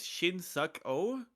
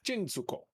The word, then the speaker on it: chinsuko: No, Chinsuko. Chinsuko. Chinsuko. Look, I should write this out so that I don't know. As a note, I'm saying it wrong on purpose. Chin as in Trin and Suko. Su.